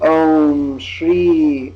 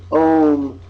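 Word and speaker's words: ॐ: manifestation if you will so the Chandra in this case indicates that there's a nasal quality to this and of course the it concludes the sound M so it's oh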